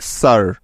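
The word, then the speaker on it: sir: দিয়ে থাকে মনে রাখবে শব্দের মাঝে বা শেষে আর থাকলে এবং তার আগে আই থাকলে ওই আই এর সাউন্ড সবসময় আকার হয়ে যাবে কিছু উদাহরণ দেখলেই বিষয়টি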